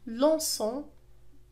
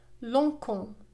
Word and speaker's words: lançons: يبقى الصوت كما هو lançons partageons. لأننا في هذه الحالة إذا لم نضيف la CD سينطق lançons وهذا خطأ. كذلك إذا لم نضيف E فإنها ستنطق partagon وهذا خطأ.